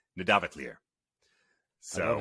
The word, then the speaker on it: Nidavellir: And so the double L has a TL sound. So this, I believe, would be Nidavellir.